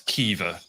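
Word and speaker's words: Caoimhe: her housemate's name is spelled C A O I M H E and somehow that's Kea and then N I M H E is so I looked at that is that Irish?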